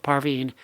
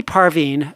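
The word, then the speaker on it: Parvin: this really cute set of photos of of parveen and the only negative thing i would say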